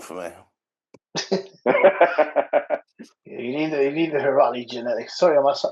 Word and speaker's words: Heirati: You need the Heirati genetics. Sorry, I'm pronouncing that right, Sas.